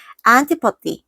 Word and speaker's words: antipathy: sympathy, empathy, sympathy, 그 다음에 antipathy, 그 다음에 pathetic까지 알겠죠? 할 수 있겠죠? antipathy. 또 T로 진짜로 레알 발음하는 애 있을까봐 T라고 써줄게요.